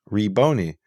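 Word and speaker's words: Rabboni: So that means the first syllable was E, Reboni, right?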